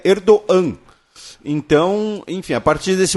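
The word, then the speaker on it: Erdoğan: com circunflexo em turco ele tem uma pronúncia Muda então o nome do líder turco é erdogan não é erdogan É erdogan então enfim a partir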